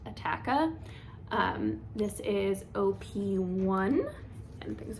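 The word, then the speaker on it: Attacca: Then I always want to call this Attica. I think it is actually officially pronounced Attaka.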